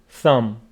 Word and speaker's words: thumb: this part hand thumb B after m is not pronounced thumb thumb the B is